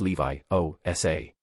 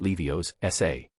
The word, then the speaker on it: Leviosa: It's Levi-O-S-A. Not Levio's-S-A.